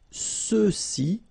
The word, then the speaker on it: ceux-ci: for the masculine plural, ceux-ci, okay, remember final X is not pronounced, so you get the sound ce, ceux-ci, and then ceux-là.